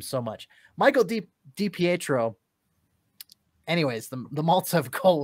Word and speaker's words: DiPietro: the petro dpatro dpatro thank you goodness we've mispronounced that name so much michael de dipietro anyways the the maltsev goal was by him